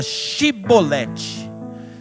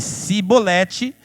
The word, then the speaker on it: chibolete: respondesse que não diziam Então diga chibolete se ele dissesse sibolete sem conseguir pronunciar corretamente a palavra prendiam matavam nos vaus